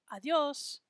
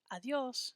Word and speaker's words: adiós: So we want to make sure we pronounce it as adios, adios, just 2 syllables.